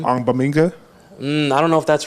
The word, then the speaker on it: Ogbongbemiga: Amen Ogbongbemiga. That's how you say his name.